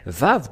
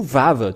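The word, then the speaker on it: ו: tout à l'heure que on le prononce V selon Wikipédia et même si vous dites vav W ou vav tout simplement ça se lit toujours V voilà et donc nous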